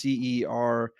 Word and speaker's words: Cerence: company called, I don't even know how to pronounce them, Cerence. It's Cernce.